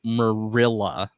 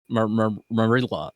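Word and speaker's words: Marilla: Her name is pronounced Merilla. Merilla. Merilla.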